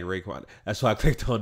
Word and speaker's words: Raekwon: this is due name Raekwon like Raekwon the chef is dude Raekwon your name is spelled exactly like Raekwon that's why I clicked